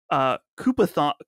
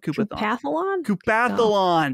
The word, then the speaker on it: Koopathlon: online play in the Koopathon. Wait, how do you say this exactly? Koopathon mode. Koopathlon. That's, I knew it was in there and I couldn't quite get it. Koopathlon mode.